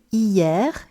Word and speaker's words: hier: Here, just be careful with this word hier, yesterday, because the way you pronounce it is with all the sounds, except H, of course, which has no sound in French when it's on its own, like it is here